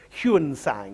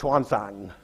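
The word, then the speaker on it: Xuanzang: up on textbooks of the old system of huan sang he used to be spent Now with an ex swanang um is how we're meant to pronounce him today and here he's seen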